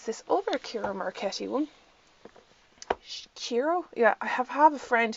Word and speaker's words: Ciro Marchetti: Chiro? Yeah, I have a friend who's from Italy, and she goes, it's Ciro Marchetti. And I was like, okay, I'll pronounce it if I can, rather than Ciro Marchetti.